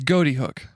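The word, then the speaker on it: Ghoti Hook: Like, So it's Goaty Hook. but yeah, and it was Goaty Hook at the Okay. time. But they've said it's actually like how you'd spell fish phonetically.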